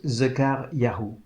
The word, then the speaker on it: Zekaryahu: Son nom, en hébreu, se prononce Zekaryahu, ce qui veut dire « Dieu se souvient ».